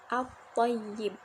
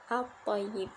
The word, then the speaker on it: at-thayyib: Nah, salah satu contoh di sini yaitu alif lam bertemu dengan bo, yaitu contohnya at-thayyib. At-thayyib dibacanya jadi lamnya dileburkan ya.